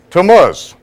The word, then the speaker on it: Tammuz: Can anyone pronounce that for me? Tamuz. Tuz. Right on the biblical Hebrew calendar we have the month of Tamuz.